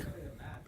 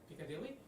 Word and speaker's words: Pucciarelli: On be- Pucciarelli, that's how you say it. Yesterday you were like, Piccadilly? Piccolo? on behalf of the team at IWC, yeah, yeah.